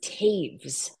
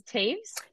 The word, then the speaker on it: Toews: because I found this out her name is pronounced Taves what uh-huh t-o-e-w-s is Taves yeah I um so you know I don't